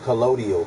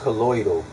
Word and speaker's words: colloidal: spelled it wrong that's how everybody like to pronounce it collodial silver but it's colloidal should have put that I before the D